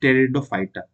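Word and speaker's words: Pteridophyta: द टेरिडोफाइटा ठीक है इसमें पी जो होता है साइलेंट होता है जो बायोलॉजी स्टूडेंट नहीं है उनको मैं बता दे रहा हूं तो दिस इज टेरिडोफाइटा ठीक है द टेरिडोफाइटा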